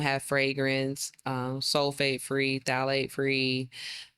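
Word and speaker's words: phthalates: fragrance um sulfate free thet free not thet is when you're looking on the label it's it starts with the p yes the p is silent the p is silent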